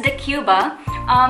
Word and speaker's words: Decjuba: I've actually researched how to pronounce that because I'm not sure how to pronounce that one. Yeah, but it's Decjuba.